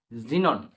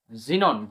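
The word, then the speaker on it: xenon: এক্স ই এনও এন জিনন জিনন শব্দটি দেখো এখানে এক্স এর পরিবর্তে জ উচ্চারণ হচ্ছে জেড এর মতন উচ্চারণ হচ্ছে জিনন তো এত নম্বর রুলসটি আমরা দেখব।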